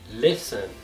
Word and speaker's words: listen: Então, numa palavra, quando ela tiver a letra T e ela vier depois da letra S, essa letra T também será uma letra que nós não iremos pronunciar na palavra. Como, por exemplo, as palavras Christmas e listen.